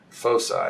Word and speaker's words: foci: realign the social motivational foci or foci is i guess is the proper latin way to pronounce that um wouldn't that be